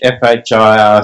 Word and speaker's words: FHIR: And you know that in English, FHIR sounds like fire, and I thought that was a pretty poor joke when we first did that.